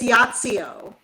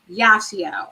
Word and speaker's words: Yacio: It's Yacio. Yacio.